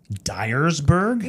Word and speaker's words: Dyersburg: Before we go any further, Dyersburg? Yes, but it's spelled Dyersburg.